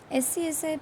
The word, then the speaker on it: SCSI: SCSI, pronounced as SCSI, is a system level interface instead of a device level interface.